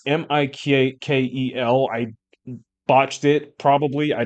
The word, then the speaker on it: Mikel: Michael. It's Mikel.